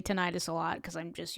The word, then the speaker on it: tinnitus: talk about tinnitus today I know you're probably wondering about the pronunciation of tinnitus I am so used to pronouncing it that way apparently the correct way is tinnitus if you talk to a doctor that's probably the way they will refer to it apparently it has to